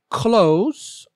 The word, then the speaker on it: clothes: word number three say clothes or clothes with only one syllable the e is silent and the S makes a long Z sound example Shelley ironed her